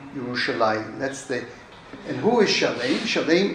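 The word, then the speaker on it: ירושלים: The oldest known and most common name of the city is Jerusalem, or as we would pronounce it in Hebrew, Yerushalayim.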